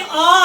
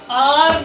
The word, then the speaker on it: are: That ये आर है कि आ है? दैट अलिफ मदा ARE, आर नहीं होता है, इसकी प्रोनाउंसिएशन है आ।